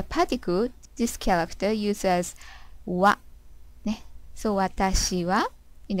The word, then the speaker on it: は: Always this pronounced as wa when it's used as a particle.